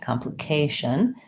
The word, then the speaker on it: complication: that as complication first primary stress on the K secondary stress on the calm so we have a clear vial in these two syllables the main length comes on the K complication and then we have a calm we have an it reduced if foul here complication and then our tion ending sounds like tion Bausch wha complication so